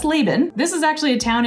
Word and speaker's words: Laban: Laban? No, that's Laban.